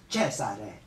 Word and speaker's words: Cesare: For the young man role type, it's a countertenor, which is not unlike Handel's Cesare, which is the Italian Latin way to pronounce Caesar, Julius Caesar, Cesare.